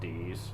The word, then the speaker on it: Deus: I think it's supposed to be pronounced Dees, but most people will call her Deus if you're going by this game.